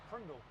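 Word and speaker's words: PRNDL: Well, if you read it, it says P-R-N-D-L, Prindle. That's how you spell it, right? Prindle? Prindle.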